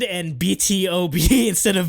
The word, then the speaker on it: BtoB: it's it's exid and BtoB instead of v2 because you wouldn't normally think you print you pronounce the letter then pronounce like 2 and then pronounce the letter like it's like k-pop k-pop